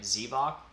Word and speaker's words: Xevoc: say it either way in the finnish pronunciation it's with a not e would you mind saying it for me okay oh zavoc not z like an